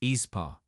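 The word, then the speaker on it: aespa: the kop girl group esper pronounced espa on Saturday February 8th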